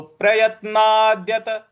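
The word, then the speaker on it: प्रयत्नात्: प्रयत्ना प्रयत्ना देखिए यहां पे य के बाद जो त है उस पर हमको आघात देना है।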